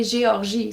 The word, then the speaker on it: Géorgie: In French we will say Géorgie.